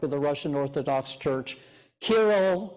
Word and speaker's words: Kirill: And this has also been the story that the patriarch in Moscow, the patriarch of the Russian Orthodox Church, Kirill, or in Russian is pronounced as Kirill, this is a story that he also tells.